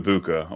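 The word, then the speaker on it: Egbuka: But Emeka Ibuka, or I guess that's the correct way to say it.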